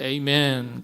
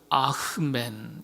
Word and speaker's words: 아멘: 이 히브리어 아멘은 그래서 쭉 이어지는데 영어에서는 에이멘 그러기도 하고요. 히브리식, 원래 기독교 초대교회 전통에서는 가장 정확한 발음 알려드립니다. 아멘이 아니고요, 아흐멘 이렇게 대답하셔야 돼요.